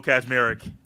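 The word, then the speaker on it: Kaczmarek: Kazmarek. And there is not a Z right there. It's K-A-C, but it's Kaz.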